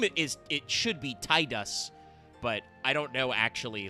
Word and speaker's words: Tidus: It should be Tidus, but I don't know actually like what the what the like currently intended pronunciation is. Inia it's in Decidia it's Tetus.